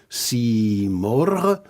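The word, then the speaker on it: Simorgh: Le phénix merveilleux en persan se prononce Simor, en fait un vieux mot perse qui signifiait aigle noble, mais en persan on prononce Simor.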